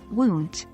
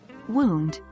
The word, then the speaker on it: wound: wound this word can mean an injury or the past tense of wind they are pronounced differently one as wound and the other as wound to rhyme with round thanks for joining